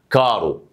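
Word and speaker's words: caro: النطق فهقول لك ايه حرف التشي لو جا بعد منه الاي او الا يتنطق شي او تشي لو ج منه اي حرف تاني يتنطق ايه يتنطق كي زي كلمه كارو كايرو اميكو اميكا بالشكل ده ماشي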